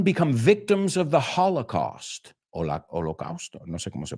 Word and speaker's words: Holocaust: Holocausto, no sé cómo se pronuncia en español. In English, it's hala, como si la segunda O fuera una A, Holocaust.